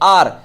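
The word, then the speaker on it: hour: I need, मुझे 1 घंटा चाहिए, आर। अब देखिए एच को यदि हम देखें तो हम ए लगा देंगे, लेकिन गलत हो जाएगा। एच मत देखिए, इसका प्रोनाउंसिएशन देखिए, प्रोनाउंसिएशन क्या होता है इसका, आर, है ना, कहते हैं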